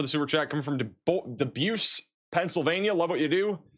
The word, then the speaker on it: DuBois: DuBois? It is DuBois. Where did I get DuBois from? DuBois. Apparently it's DuBois.